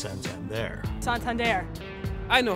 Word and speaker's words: Santander: this whole notion of how do you say Santander? And we knew early on that people were having a hard time with the pronunciation, so we decided we were going to have some fun with it.